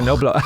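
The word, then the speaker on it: Knobloch: Knoblock. Yeah. Knobblau. Koblau. No, it's Mike Koblau. Is that is how you say Kenoblau? German. Okay, there you go. It's a German word for garlic.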